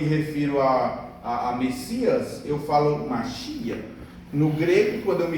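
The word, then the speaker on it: מָשִׁיחַ: Portanto, no hebraico, quando eu me refiro a Messias, eu falo Mashiach.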